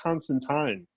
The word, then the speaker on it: Constantine: you guys know that in England you know where he was pretty much created it's actually pronounced Constantine oh yeah how do